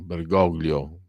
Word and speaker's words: Bergoglio: che Francesco che Bergoglio come vogliamo pronunciarlo Castigliano Bergoglio perché se in italiano orgoglio Ma lui è argentino Eh si dice Platini